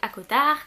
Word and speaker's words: ACOTAR: sarah jane masse où on dira plus facilement à coat ar n'est ce pas qui est l'histoire de feu mais c'est comme ça qu'ils le mettent à la fin qu'il faut prononcer donc fermés y ait